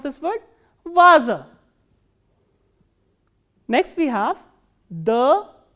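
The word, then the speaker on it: ваза: The next word is va, a, za, a, and stress is on a, the first a. So, how will we pronounce this word? Vaza.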